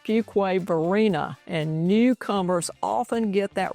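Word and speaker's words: Fuquay-Varina: First, it's pronounced Fugquway Vina and newcomers often get that wrong.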